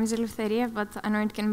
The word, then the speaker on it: Eleftheria: hi good morning my name is Eleftheria but I know it can be a little bit difficult we pronunciate it so you can call me